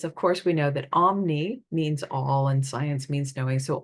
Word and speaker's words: Om: a m in the Indian tradition but it's pronounced om but it represents it represents the four states